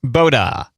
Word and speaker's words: Bota: clicked on the about and the first sentence pronounced boda our name is inspired from the traditional spanish